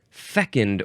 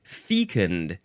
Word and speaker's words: fecund: Fecund or fecund, if you want to say the long E sound, fecund.